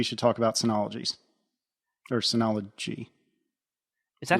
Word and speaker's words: Synology: talk about anies or Synology is that how yeah it's CU it's pronounced like Synergy but with ology at the end Synology yes yeah you